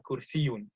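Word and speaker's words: كرسيٌّ: But with the shadda on it, kursiyun, I would spell it with a double Y.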